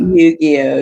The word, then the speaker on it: Yu-Gi-Oh: Is that how you pronounce it? Yu-Gi-Oh, yeah.